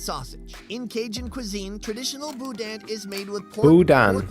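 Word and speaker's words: boudin: about the Budan and it's pronounced Budan right mhm cuz it looks like buen buan do I sound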